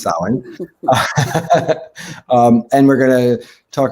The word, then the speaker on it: Samhain: which looks to some of you maybe like Samhain, but it's pronounced Samhain.